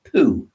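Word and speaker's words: Pau: stay in a place, it was pronounced Poo, which didn't sound too good, but it was spelled Piu. But you pronounce it Poo, you couldn't call it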